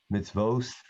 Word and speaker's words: mitzvot: If you say Asher Kitchana b'mitzvotav, Ashkenazim sometimes have said Asher Kitchana b'mitzvosav, because they pronounce the letter without a dot as an S.